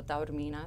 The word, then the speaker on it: Taormina: Taormina, so Taormina is how you say it, and Taormina is like